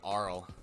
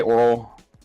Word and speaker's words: Oral: Speaking of, is it actually pronounced Oral or is it Aural? I say Oral. Aural can probably work as well. It is sound based, so like it's whatever.